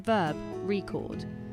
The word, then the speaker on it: record: For example, in the word record, the stress is on the first syllable when it's a noun, record, but on the second syllable when it's a verb, record.